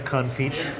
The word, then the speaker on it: confit: makes the confit? Duck Firstly, I know on you don't feet. pronounce the T. By the way, that's what they It's say. duck confit.